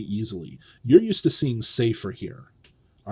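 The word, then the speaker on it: ספר: All right, but what happens in the construct is we know sefer is accented, not in the construct, but in the absolute form. Sefer is a seglet. It's accented on the first syllable.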